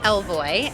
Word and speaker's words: Ellevoy: it fun from so the name is elvoy and it's French for she goes because we believe that